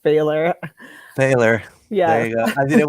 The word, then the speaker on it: Pfahler: for having me and my last name and I should have told you before we got on here it's pronounced failure Baylor yeah yeah I